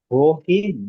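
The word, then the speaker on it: wohin: এটা বোঝার চেষ্টা করেন ভো আর ভহিনের মধ্যে পার্থক্য কি। তো ভো, এটা কি ভো হিন নাকি ভো ইন? ভহিন, উচ্চারণ ভো হিন।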